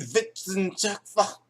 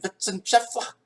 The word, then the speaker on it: Wissenschaftler: The W is pronounced a V. Oh, Oh! Oh! Well, in that case, ich bin in Wissenschaftler.